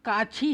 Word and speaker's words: काछी: इसके मुख्य पात्र हैं भक्तिन, महादेवी वर्मा की जो परिचारिका हैं वृद्धा ठकुराइन, विदुर काछी है, काजी नहीं है, ब्राह्मण दंपति सहुआइन, पंडिताइन और ठकुरी बाबा की जो बेटी है उसका नाम बेला है।